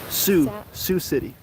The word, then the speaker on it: Sioux City: Sioux City. Why is this Sioux? That's just how it's pronounced. Why is the X not pronounced?